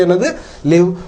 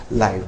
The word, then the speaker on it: live: அது ஒரு வினைச்சொல்லாக வரும்போது, அதன் உச்சரிப்பு 'லிவ்' என்பதாகும். இல்லையெனில், அது ஒரு பெயரடையாக வரும்போது, அதன் உச்சரிப்பு 'live' என்பதாகும்.